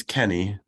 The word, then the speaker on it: Canny: It's Kenny. Kenny.